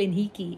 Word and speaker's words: Henrique: I always say it wrong. I'm so used to saying Gabriel Henrique. It's Gabriel Henrique.